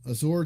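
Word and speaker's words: Ausar: shenon leaves the court and Thompson comes in Azor Thompson right that's how you say his name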